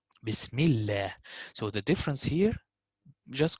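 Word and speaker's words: بسم الله: So Allah and Allahumma, again, only on these two words, the lam will be simplified if we have kasra before it. Like most common, Bismillah. Bismillah.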